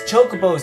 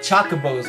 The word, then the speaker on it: chocobos: play the mock token chocobos in the finals your pronunciation is all wrong it's chocobos not Chaka bows I didn't notice me